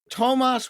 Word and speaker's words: Toomas: Toomas with two O's, Hendrik Ilvis, pronounced like Thomas or Tomas, but spelled like Toomas, former president of Estonia, Riverside incompetent, advocate of e-government, foe of Vladimir Putin.